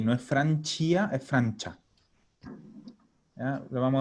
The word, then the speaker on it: Francia: Hanno studiato in Francia. Perfecto. Hanno studiato in Francia. Acuérdense que la C y A suena cha. Sin la I. No es Francia, es Francia.